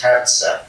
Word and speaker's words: Herzer: I'm using Gaza to help you pronounce my last name once and for all. My last name is Herzer, and it is very close to Gaza.